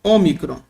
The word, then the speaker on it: ômicron: aqui é muito simples no grego se escreve o ó micron omicron no português seria ômicron ó micro Ok e tem um som como na palavra pó um som aberto p tá bem simples